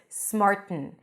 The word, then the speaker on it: smarten: yourselves up perfectly fine you can pronounce it with a nasal stop smart a nasal T you block the air and you release Air through the nose smarten and some people might pronounce it with a glottal stop smarten smarten smarten yourselves up you do whatever is easier for you I assume that the small T is the easiest smarten yourselves up so